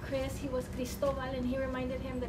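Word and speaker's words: Cristóbal: correct everybody Chris was not Chris he was Christoval and he reminded him that his name was Christoval not cryistal Bal the way his teachers would pronounce it and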